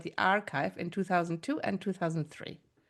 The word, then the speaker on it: arXiv: Now, archive is spelled a r capital x i v, where the x stands for chi, the Greek letter. Um and as we'll hear in this podcast, archive is a really important